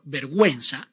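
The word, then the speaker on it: vergüenza: inguino the Subway or verguenza where you must pronounce the vowel ooh even when it goes after the consonant and before the vowels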